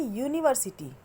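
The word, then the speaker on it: university: अब यहाँ देखिए, यूनिवर्सिटी है तो ये वॉवेल, बट इसका प्रोनाउंसिएशन क्या हो रहा है, यू। और यू हम कैसे लिखते हैं, वाई से। और वाई क्या है, ये नॉन वॉवेल साउंड है, मतलब ये कॉन्सोनेंट साउंड है, इसलिए हमने यूनिवर्सिटी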